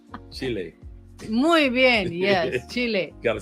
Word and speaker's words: Chile: Dre, I think you were putting the accent on the wrong syllable. Yes. Chile. Chile.